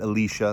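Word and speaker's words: Elisha: alicia is in town the prophet alicia that's how that's how it's said actually is in town and she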